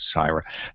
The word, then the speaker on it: Syrah: Not Sarah, but Syra. That's in Napa Valley, by the way. Okay. I don't know if they call it Sarah, but it's spelled Syra, SYRAH.